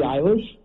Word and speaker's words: Eilish: Her last name rhymes with Irish. Billie Eilish.